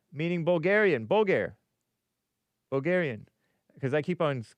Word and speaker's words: Bulgar: Bulgar with the stress on the first syllable rhyming with uh pulfur or wholeer. Bulgar. Nice. Thank you. Bulgar Wolf here. Let's see. We are Bulgar.